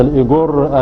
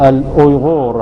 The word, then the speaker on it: الأويغور: أولا أود تصحيح لفظة الإيغور. الإيغور هي تنطق الأويغور، هذا النطق الصحيح لها كالنطق في اللغة الأويغورية ونطقها في الترجمة العربية. أما إيغور فهذه الترجمة الإنجليزية لللفظ.